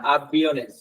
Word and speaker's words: avión: यहाँ पे स्ट्रेस देना है आपको, aviones, आई पे थोड़ा सा स्ट्रेस देना है, aviones। सॉरी, यहाँ पे पहले आप avion बोले तो यहाँ पे आई पे स्ट्रेस देना है, avion, avion, लेकिन अगर यहाँ पे आएगा तो aviones नॉर्मली, अच्छा, aviones, ठीक है।